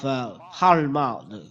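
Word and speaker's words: עלמה: We will see the meaning of halma. Halma. This is the way to pronounce halma.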